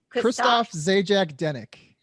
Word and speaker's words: Christophe Zajac-Denek: i make sure people are saying it right christoph zajac dennick christopher he is single guy girls and i